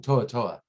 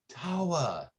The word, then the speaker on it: Tawa: And they kept calling him Toa. So, and I'm like, no, Tawa. It's a different word. It's spelled completely differently on paper.